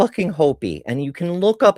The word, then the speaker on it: Hopi: Is it Hopi or Hoppy? Hopi? I think it's Hopi.